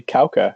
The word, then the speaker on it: Kauka: that's pretty good actually kauka is how you pronounce it okay so nick is